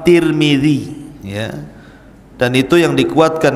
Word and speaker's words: Tirmidzi: kota sebuah daerah dan ada yang kemudian membacanya ada turmud ada tirmid jadi ada sebagian mengatakan Imam tarmadizi ada yang mengatakan Imam turmudzi ada yang mengatakan Imam Tirmidzi walaupun yang masyhur adalah Imam Tirmidzi ya dan itu yang